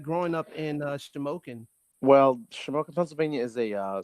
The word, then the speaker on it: Shamokin: The information that I got, you're from Shamokin. That's how you pronounce it? You pronounced it correctly. Holy hell. Holy shit. Shamokin, Pennsylvania.